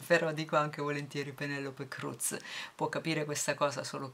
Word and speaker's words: Cruz: arrivata la notizia che la z dovrebbe essere un po più dolce dovrebbe essere pronunciato un po più dolcemente però stava pronunciando semplicemente all'italiana quindi penelope cruz mi è noto però